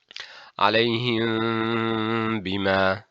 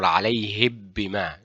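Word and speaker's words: عليهم بما: Alayhim bimaa example. Alayhim bimaa. We do not say alayhim bimaa or alayhib bimaa. No. We say alayhim bimaa.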